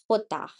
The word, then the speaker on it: jota: Like for example J, we call it Jota. Jota, like H is not H, it is Ache. So J is Jota. Jota, Jota is the name of the letter like I said previously also. And when we use it in a palabra or in a word, it goes like H.